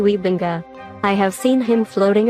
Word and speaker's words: Wybenga: groningen in the netherlands so the correct way to pronounce it would be gary wiebenga i have seen him